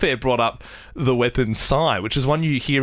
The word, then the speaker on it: sai: then Andy off a brought up the weapon sigh which is one you hear about like pretty rarely um spelled like is it spelled like gangdam style sign